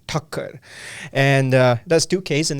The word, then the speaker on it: Thakker: guys I'm uh my last name is pronounced as Tucker and uh that's 2ks